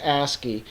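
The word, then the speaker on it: ASCII: there's this other um uh reporter called um asky let me show you that so it's under a and it's yeah it's AC ACI I which is an abbreviation it's pronounced asy and it stands for American Standard code for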